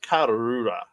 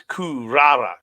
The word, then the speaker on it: Kurara: It's Hanako versus Sayaka Karura. Karura. Uh, Hurrah. Karura. I Or love how they say it sorry, so quickly. It sounds like hurrah. sorry, it's Kurara.